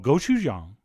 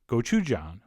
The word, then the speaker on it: gochujang: And then we'll also at this stage put in a couple spoons of Korean chili paste, which is called gochujang, or as I prefer to pronounce it, gochujang.